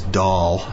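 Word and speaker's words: Dahl: Katie sackoff who plays doll good name for her d a l but pronounced doll as in what a doll yeah she she was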